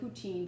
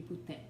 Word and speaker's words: poutine: Everyone calls it poutine, but it should be poutine. It's like poutine with the French accent.